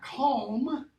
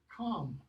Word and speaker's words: calm: Or it becomes the aw before an M, as in, it's not cam, and it's not calm, it's calm. Calm. It's not calm. The L drops off in the Middle English period.